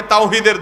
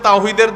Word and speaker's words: তাওহীদ: হেজবুত তাওহীদ মানে তাওহীদের দল। কিন্তু আপনি যদি জিজ্ঞাসা করেন তাওহীদ শব্দটা শুদ্ধ উচ্চারণে একটু বলেন। আরবিতে তাওহীদ এ হা যথাস্থান থেকে উচ্চারণ সঠিকভাবে তাদের শতকরা কয়জন করতে পারবে?